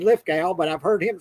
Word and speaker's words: Lithgow: But that season with John Lithgow, and I believe it's Lithgow. I always said Lithgow, but I've heard him say Lithgow. So you pronounce it Lithgow, John Lithgow.